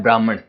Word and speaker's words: ब्रह्म: ठीक है, देखो सबसे पहले हम समझते हैं ब्रह्म को।